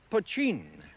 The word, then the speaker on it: poitín: name for the stuff that spelled potin and pronounced poin illicitly distilled whiskey do it yourself Hooch and